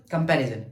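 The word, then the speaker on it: comparison: For example कंपैरिजन, कंपैरिजन, कंपैरिजन, कंपैरिजन, पे को pronunciate कर रहा हूं तो मेरी एनर्जी बढ़ रही है, तो ये हमारे पास क्या है, स्ट्रेस सेलेबल है।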